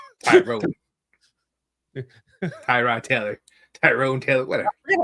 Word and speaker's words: Tyrod: So, it's not Tyrod anymore. It's like T- Rod or something like that.